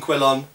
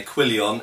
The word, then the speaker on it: quillon: made of two quillons the expression Quillon and lots of English people annoyingly say quilon it is not quilon it's Quillon or Quon